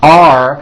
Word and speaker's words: are: The first word are has a strong R sound at the end.